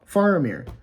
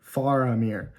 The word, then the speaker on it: Faramir: Fair Fier okay I've been saying it wrong faramir um not faramir faramir dang it I'm sorry I I I mean